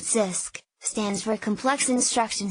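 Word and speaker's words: CISC: we discussed earlier Sisk Sisk pronounced Sisk stands for a complex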